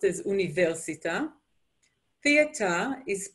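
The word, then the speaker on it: אוניברסיטה: internet is internet no change university was actually pronounced as universita theater is pronounced as terton and you can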